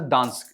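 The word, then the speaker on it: Gdansk: Dansk bay like it's pronounced as Dansk.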